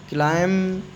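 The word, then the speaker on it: climb: एम के बाद और टी के पहले एम के बाद आया तो इसको क्या पढ़ेंगे? बॉम्ब बॉम्ब नहीं पढ़ेंगे। बॉम्ब है ना? बॉम्ब इधर क्लाइंब बी के पहले आया। कॉम बी साइलेंट है।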